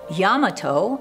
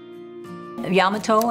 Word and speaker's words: Yamato: Japanese American community at Yamato, and yes, that's how they pronounced it, west of the